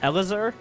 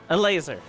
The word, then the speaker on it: Elazer: out loud it was Eleazar because is his name just eat laser is that just how you say it yes apparently a laser there you go and